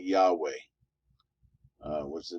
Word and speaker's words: Yahweh: h w h but modern scholars have concluded that it likely was a something like yahweh uh what's the name